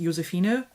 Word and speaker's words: Josefine: There are so many versions of that, but Josephine with an F and an E, or how my name is actually pronounced, Josefine, which is where Fine comes from, that's really, really rare.